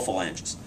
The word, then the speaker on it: phalange: Well, this is the first finger, but they're all phalanges. But in any event, or phalange, I guess is the proper pronunciation.